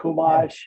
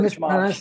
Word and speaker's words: Chumash: Chumash, I've been church mosh.